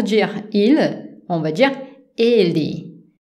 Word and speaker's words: ele: Pour dire il, on va dire ele. Attention, la syllabe forte, c'est les premières E. Ele. Ele, ok? On ne dit pas ele, on dit ele.